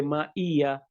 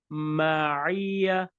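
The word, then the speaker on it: مَعِيَّة: It should be soft. Ain is a soft letter. Ma'iya. And also, don't read it like a hamza. Don't say ma'iya. The correct pronunciation for this word is ma'iya.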